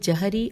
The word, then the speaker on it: جہری: رہے ہیں۔ لکھا ہے جہری اور اخفاتی نمازیں، ہجے کرتے ہیں جیم ہے رے چھوٹی ہے، جہری اور اخفاتی میں